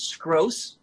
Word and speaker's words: Scroce: My character's name is Scroce, rhymes with gross.